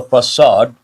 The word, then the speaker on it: facade: The spelling and the pronunciation, nothing to do with each other.